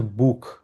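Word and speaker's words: Buch: হচ্ছে গুটে আরেকটা হচ্ছে বুক এটা খ উচ্চারণ হবে বুক লেজেন আইন গুটেস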